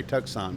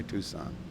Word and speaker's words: Tucson: Road for Ena Giddings Tucson Tucson Tucson Tucson sometimes they say tuxon but I say Tucson the name Tucson is